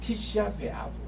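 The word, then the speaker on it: Tisha B'Av: 네, 티시아 베 아브. 우리 한번 따라할까요? 티시아 베 아브. 티시아 베 아브.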